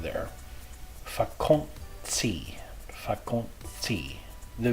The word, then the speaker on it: vakantie: The letter T, like in tafel, is just like the T in English, but in vakantie, it has a TS sound.